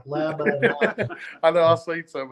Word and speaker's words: Lebanon: Say that with me, Lebanon. I actually pronounce that. A lot of people actually, like the Hooked on Phonics thing, Aaron for me spelled it out like Lebanon.